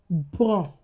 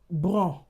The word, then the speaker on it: bon: Bon. Bon. That's nasalized. What if I add letter e to that word? It becomes bonne.